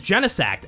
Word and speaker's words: Genesect: But the official pronunciation is Genesect, as in Genesis.